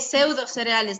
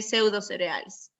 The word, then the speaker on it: pseudocereales: Se lee pseudocereales nada más, no se lee esa P anterior. Se escribe sí, pero se lee pseudocereales.